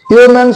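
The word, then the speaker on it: yeoman: number to you service উচ্চারণটা ইউম্যান service ইউম্যান একটা character যে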